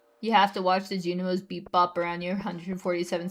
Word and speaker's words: Junimo: It's pronounced Junimo.